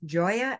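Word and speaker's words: Gioia: out to me on LinkedIn I'm at Joya and that's spelled g-i-o-i-a and the choice part is not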